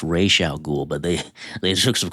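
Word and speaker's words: Ra's al Ghul: You don't need to explain much unless you want to be a Batman nerd and be like actually it's pronounced Ray Sha Ghoul but they they took some creative liberties with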